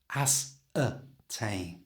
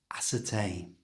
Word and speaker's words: ascertain: To say this naturally like a native speaker would, change the eer in the middle to the schwah sound. That's that little h sound. Make it by keeping your tongue flat in your mouth. From here, just going h. It's a tiny little sound, but it's really important in English. So slowly this word now sounds like this. Asertain.